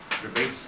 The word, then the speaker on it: Dravet: Dravet, one more time, Dravet syndrome is spelled D-R-A-V-E-T, okay?